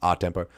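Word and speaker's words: a tempo: And it's just a space tempo, but it's pronounced R tempo, and it's basically like at the same, like at normal tempo.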